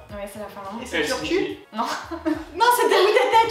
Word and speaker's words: Turku: Et c'est Turku. Non. Non, c'était où t'étais, Turku. Mais ça se prononce Turku, c'est mieux.